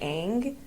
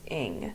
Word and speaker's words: Ng: I always want to the last name NG I want to say Ang like a NG but going on her website I saw that her last name is pronounced in like ining so little fires